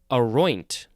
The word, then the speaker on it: aroint: Now we have aroint. So the second syllable is emphasized, and it has an NT at the end.